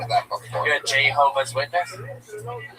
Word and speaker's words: Jehovah: Jehovah's Witness, not Javaho. Learn how to pronounce Jehovah God's name.